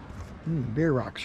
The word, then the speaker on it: Bierocks: one's for beer rots beer rocks are kind of something different that's how you pronounce it yeah rocks it's like like a beer and in a rock it don't have any